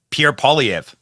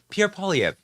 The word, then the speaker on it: Pierre Poilievre: I just heard him say Pierre Poilievre. Pierre Poilievre. I'll try my hardest to pronounce the names correctly.